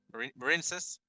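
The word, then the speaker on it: Marincess: Marinesis.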